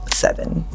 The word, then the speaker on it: 7even: Well, it's spelled seven e ven. So the number seven takes the place of the s. So by the time you say the number, you're already saying e v n.